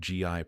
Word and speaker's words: gi: Dalton knelt near the laundry bins with a folded GI pronounced gi resting on her lap.